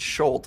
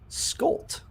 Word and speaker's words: Skolt: Everyone pronounces it Schultz, but it's really Skolt. Skolt.